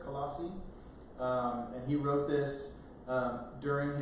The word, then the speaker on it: Colossae: So Colossians was a letter that the Apostle Paul wrote to the church at Colossae, I believe is how you say it, Colossae.